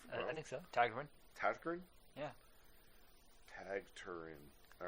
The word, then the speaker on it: Tägtgren: Lindemann, the project featuring vocalist Till Lindemann of Rammstein and Swedish producer and multi-instrumentalist Peter Tägtgren of Hypocrisy and Pain.